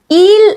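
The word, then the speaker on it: ils: ജൻഡറിൽ ദേ എന്ന് പറയാൻ ഈൽ എന്നാണ് എന്നുള്ള വാക്കാണ് അത് വായിക്കുന്നത് സിംഗുലർ ആണെങ്കിൽ ഹി എന്നുള്ളതിന്റെ അതേ ഉച്ചാരണം തന്നെയാണ് ദേ എന്നുള്ളതിനും വരുക പക്ഷേ എസ് ലാസ്റ്റിൽ ഉണ്ട് അത് സൈലന്റ് ആയിരിക്കും അപ് ഹി എന്ന് പറയാനും ഈൽ എന്ന് തന്നെയാണ് വായിക്കുക ഇതും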